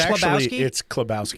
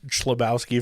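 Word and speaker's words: Chlebowski: how do you say it's it's kabowski kabowski did you know that no never says his name no it's okay I thought it was chabowski for the longest time and I was like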